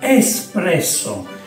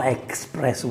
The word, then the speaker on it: espresso: we need to make espresso espresso Bravo no expresso Dex espresso good pronunciation Bravo from scratch so